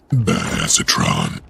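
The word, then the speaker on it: Badassatron: to myself or anything actually it's pronounced bad acetron you like that right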